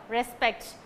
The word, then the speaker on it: respect: the word respect okay for this word whether it's a noun or verb whatever it is it it will take only the second syllable okay the stress must fall on only the second syllable for this uh word alone respect okay then we'll move